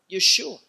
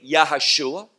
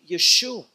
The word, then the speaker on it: Yeshua: nehemiah cepher nehemiah and chapter 8 he is called yeshua not as some mispronounce the name of messiah by saying yahushua never in the scripture do we see that no we see yeshua and i won't go